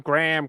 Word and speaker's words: Graham: No, it's a Graham, as in the name.